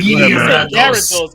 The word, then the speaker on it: Gyarados: for Poliwrath for fighting, Farfetch for flying, and Gyarados for water. But that's how it's spelled. It's mad stupid. Go ahead. Gyarados. It's Gyarados. That's how you spell it.